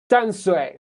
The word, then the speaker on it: Tamsui: Well, yeah, so Bruce, Dansui is the pronunciation in Mandarin, but right now, they write on the MRT with a T. So the English pronunciation of that place, me and my friends will still call it Danshui, but on the MRT, it's using the T sound, which is, I think, Tamsui.